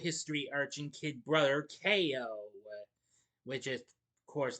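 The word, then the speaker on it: Kayo: three arching kid brother Ko, which is of course that's um a pun on the Ko and his name is spelled with a K A Y O.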